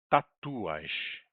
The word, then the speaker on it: tatuaż: To jest tatuaż. Tatuaż, que é tatuagem. To są tatuaże. Esse ficou bem igual o português, lembrando que aqui está a sílaba tônica, né?